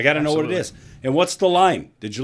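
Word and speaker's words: Ailsa: I'm going to go Isa. Isa. Isa. Sure. With a with a S that is not pronounced.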